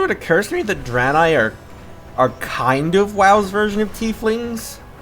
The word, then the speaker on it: Draenei: Also, it's spelled D-R-A-E-N-E-I. Draenei.